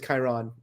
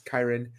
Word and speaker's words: Kyron: And then Kyron, this is going to be hard, by the way, because I've been pronouncing your name as Kyron. It's Kyron.